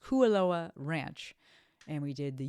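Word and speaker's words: Kualoa: And so we got in at like 11:00 and we drove to Koalaoa Kuoa I should it's pronounced Kuoa Ranch and we did the UTV Raptor tour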